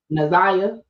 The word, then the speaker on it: Na'Ziyah: Because somebody chewed my ass up in the comments and said I said her name wrong. Naziah? Naziah.